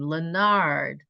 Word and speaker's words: Leonard: appropriate pronounce pronunciation of your last name Leonard very French I don't know where it came from you know it sounds like it has a little bit of a French flavor to it but we're glad